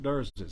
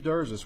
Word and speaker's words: Derzis: Joining me at the podium today will be Hoover Mayor Frank Brocato, spelled Brocato, and Hoover Police Chief Nick Derzis, spelled Derzis.